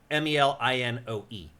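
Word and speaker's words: Melinoë: Yeah, usually in ancient Greek stuff, you pronounce each vowel separately. You're right, actually. And it's it is Melinoe.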